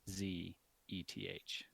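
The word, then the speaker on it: Szeth: e th e th the S is silent is okay I guess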